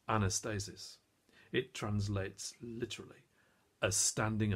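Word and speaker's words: ἀνάστασις: in the original language the word resurrection is pronounced Anastasis it translates literally as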